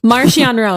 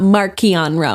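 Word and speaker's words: Marchion Ro: this it's niall nile marcianro not mark keon nonsense sorry mom there's an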